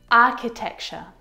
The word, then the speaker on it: architecture: Architecture, architecture. This one is so often mispronounced. I hear architecture, architecture, which is incorrect. The CH sound in this word is a K sound, like in cat.